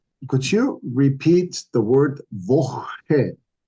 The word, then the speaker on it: Woche: Now, could you repeat the word Woche? Woche? Okay. The CH sound needs to be pronounced very, very specifically as your sound. Okay. And this is something you're gonna have to practice because we have this beautiful word called Nacht.